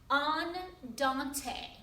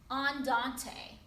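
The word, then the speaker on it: andante: a medium tempo in music is often called on dante on dante okay which is actually a walking speed it's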